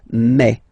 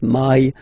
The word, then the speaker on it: mai: In French, remember, when you combine this A and then I vowels, you get the sound E. So really open E, okay? And then you pronounce it me. Okay, so don't pronounce I, don't try to pronounce it. No, it's me. So it's not my, it's me.